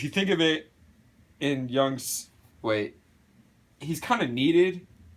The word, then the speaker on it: Jung: Alright, now according to Carl Jung, the J is silent.